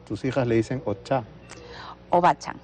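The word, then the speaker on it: おばあちゃん: Entiendo que a tu mamá, tus hijas le dicen ocha Obachan, o bacha. sí. Ya, me faltaba una sílaba.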